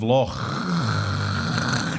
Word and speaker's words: Loch: You're correct in the pronunciation of Loch, Gyles, because that's the way we do it in Scotland.